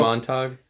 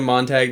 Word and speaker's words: Montag: saying Montag?